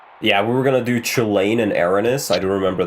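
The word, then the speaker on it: Chulainn: Chilane, that's not how you pronounce his name. That's how his name looks like to me, but I'm not Irish. It's pronounced Chilane. Okay, so it's Irish, I see. Yeah. It's not... It's supposed to be that, like, the C is soft, so it's like Hulan.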